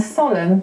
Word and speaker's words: solemn: Likewise, Sam got an L, goes back to the Latin salmo, and solemn got an N. It didn't have one before. The Latin was solemnis. So that accounts for a lot of the silent letters that we have in English.